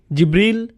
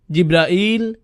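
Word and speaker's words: جبريل: জিব্রিল, জিব্রাইল, জিব্রাইল, জিব্রাইল, জিব্রিল, এই 5 ভাবে তার নাম উচ্চারণ করা হয়।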